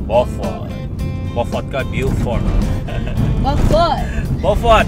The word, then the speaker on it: Beaufort: Beaufort, tapi ejaannya macam Beaufort. Beaufort. Ah, komen dulu kenapa begitu tu? Kenapa boleh jadi Beaufort? Sedangkan kalau macam saya baca Beaufort.